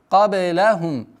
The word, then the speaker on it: قبلهم: Кабелахум. Кабе. Каф. Твердое произношение. Ба. Калькаля. Кабе. Кабе. Кабелахум. Здесь полноценная ассимиляция в размере двух огласовок. Удерживаем назализацию. Кабелахум миналь куруни.